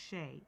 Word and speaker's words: Hsieh: Because Shay, Hsieh is pronounced Shay.